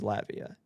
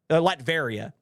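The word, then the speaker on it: Latveria: So I want to make sure it is Latvia. Latvaria. See that? I knew I was pronouncing it wrong.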